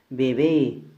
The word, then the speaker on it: bebé: Bebé, mayor fuerza de voz en la última sílaba y termina en E, por lo tanto se tilda.